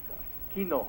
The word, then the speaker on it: quinoa: And I tried all different kinds of flour, but now that you've mentioned quinoa, how you pronounce that word again?